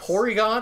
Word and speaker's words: Porygon: just realized 400 points Porygon is just the Japanese way of pronouncing polygon instead of party gone because I can't say